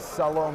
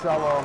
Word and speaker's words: shalom: you were from Israel you would know that Salome is actually pronounced Shalom and it's still the city so you must